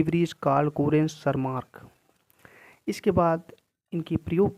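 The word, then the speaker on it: Tschermak: बाद तीसरे वैज्ञानिक है सर मार्क यहां पर टी साइलेंट होता है सर मार्क तीन वैज्ञानिकों ने मेंडल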